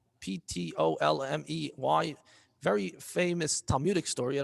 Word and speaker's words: Ptolemy: Ptolemy. Ptolmey.